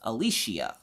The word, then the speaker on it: Alisha: do you say that my real name is pronounced Alisha most people I just tell to tell call me Leisha and when I was